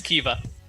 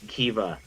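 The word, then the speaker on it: Keeva: of her name it's kiva eva okay i'll try and ryan right down more just yeah the easiest pronunciation is k-e-e-v-a it's very fun spelling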